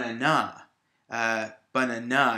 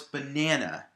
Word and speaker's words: banana: it usually should also if i put the stress on the last syllable it would be fun anna banana and that doesn't sound right we know it's banana the word is banana I'd like a banana we put the stress on the middle syllable and because neither of